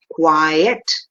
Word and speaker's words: quiet: the pronunciation is different one is quiet in two parts and this is quite in one part so this has only